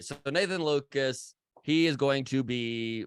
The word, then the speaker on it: Lukes: up either way but his name is pronounced Nathan Lucas even though it is even though it is I'm going to continue to go with Luke's nothing better than uh